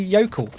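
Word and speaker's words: Jökull: pronounce it as the yokel because that's how the cutscenes pronounce it that's how i'll pronounce it as well then yokel it's a scandinavian jay a joke it's a yokel i never pronounce it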